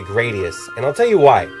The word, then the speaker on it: Gradius: You either pronounce it Gradius or Gradius. I personally say Gradius, and I'll tell you why.